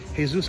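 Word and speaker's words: Jesús: a gentleman over here his name is hey-zeus Mejia now if you look at his name tag you might say it's Jesus mogea don't make the mistake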